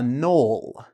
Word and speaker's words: knoll: Did you know there's something even smaller than a hill called a knoll? Knoll. The K is silent.